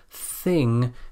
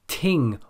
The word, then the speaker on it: thing: The most common mispronunciation here is to pronounce this sound as a d or a t, like ting or ding for thing, bat or bad for bath, or dif or tief for thief.